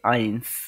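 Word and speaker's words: eins: তারপরে যেটি আছে ওয়ান ওয়ান কে ডয়েসরা বলে আইন্স আইন্স তারপরে যেটা আছে টু টু টু কে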